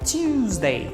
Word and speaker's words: Tuesday: fala como se fosse esse U tem uma pronúncia de I Então a gente fala tuesday tuesday e sua origem é anglo-saxônica e vem